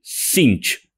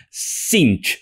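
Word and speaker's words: Tzeentch: caos sench no es sench se dice sinch exactamente como escucharon sinch sí ni siquiera se pronuncia la t y las dos e se pronuncian como una letra i y es un error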